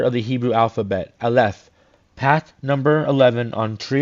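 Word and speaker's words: אלף: This is highly significant, for the letter, when pronounced as Aleph and spelt in full, Alf, means an ox or bull, Aleph, but spelled Alf.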